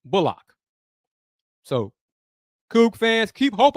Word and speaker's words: Bullock: about that Reggie bulock yes and it is bulock one more time it is pronounced bulock so cou fans keep